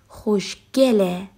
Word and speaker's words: خوشگله: Generally speaking, usually the word asked for Persian verbs turn into he and pronounced as e, خوشگله.